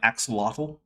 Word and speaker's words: axolotl: I've been informed that it might be an axolotl, or as you might say, an axolotl.